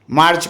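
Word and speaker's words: Mars: ईवी आर आईई आर मार्च को मार एम ए आर एस इसमें एस साइलेंट है ठीक है अप्रैल को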